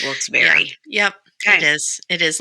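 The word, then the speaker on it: Wilkes-Barre: to say it correctly it's not wils bar it's wilss Berry yep it is it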